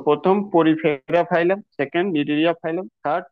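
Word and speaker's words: Cnidaria: 2 নম্বর যেটা রয়েছে নিডেরিয়া ফাইলাম, C silent রয়েছে, নিডেরিয়া, নিডেরিয়া ফাইলাম।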